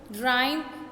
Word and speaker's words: rhyme: Okay, इसमें भी K silent है. Next is रिदम, राइम.